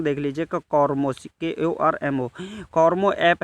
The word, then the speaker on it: Kormo: तो इसका सही जवाब है, देखिए इसकी स्पेलिंग देख लीजिए, कॉर्मो, KORMO, कॉर्मो ऐप है।